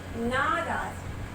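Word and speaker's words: नाराज़: ये नीचे देखिए नुक्ता लगा हुआ है, इसीलिए इसका उच्चारण क्या हो गया? ज का उच्चारण ज हो गया। अगर आप बोलेंगे नाराज, नाराज, तो ये अशुद्ध हो जाएगा। क्या बोलना चाहिए? नाराज। ये ज, इसके नीचे जो बिंदी लगी है इसे नुक्ता कहते हैं, और ये एक छोटा सा ये बिंदी लग जाने के कारण, ये नुक्ता लग जाने के कारण जो है इसके उच्चारण में परिवर्तन आ गया है।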